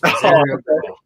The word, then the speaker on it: Rosario Grillo: It's Rosario Grillo.